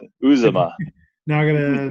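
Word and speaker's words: Uzomah: that guy's name cj uzoma uzoma so i've been saying it wrong in my head for many years now apparently uzuma now i'm gonna not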